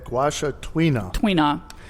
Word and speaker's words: tuina: Tuina. How do you say it? Tuina. Tuina.